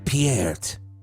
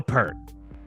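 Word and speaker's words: Peart: mugs from uh Jug's mug Emporium uh it's pronounced pierret for all you out there pronouncing it wrong for all this time yep it's not Neil pert all right my favorite dammer get out of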